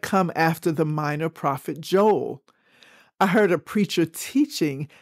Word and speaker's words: Joel: I link that with the next book which is Joel or Joel which rhymes with Noel another Christmas word so